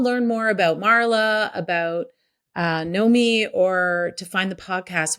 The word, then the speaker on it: Knomee: Knomee with no W. And two E's. Okay, good. Knomee. Knomee. That's right. Yeah. It's a bit of a command. Like, I want you to know me.